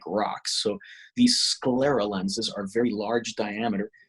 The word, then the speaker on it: sclera: other things so that's i'm really happy with sclerals and low vision those are the two areas i love the most yeah i'm really interested in you said it's pronounced squirt scroller how do you pronounce that sclera s-c-l-e-r-a sclera sclera awesome you have to look